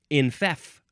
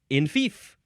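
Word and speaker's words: enfeoff: Next word is infef or infeef. Infef, infeef. And the first syllable can be in or en.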